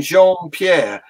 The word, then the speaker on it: Jean-Pierre: House Press Secretary Kareem Jean-Pierre except that I think in American that would be pronounced Jean Pierre correct me if I'm wrong and and uh but